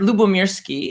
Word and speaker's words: Lyubomirsky: I felt oh yeah well it's a Russian word Luba Mirsky and it means love and peace oh yeah kind of